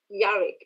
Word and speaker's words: Jarvik: uh with your movie jarvin uh am i pronouncing it uh right by the way yeah yeah we say we say javik yarick okay yeah so that's